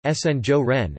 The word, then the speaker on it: Sinjoren: The inhabitants of Antwerp are nicknamed Sinjoren, Dutch pronunciation, Sinjoren, after the Spanish honorific seigneur or French seigneur,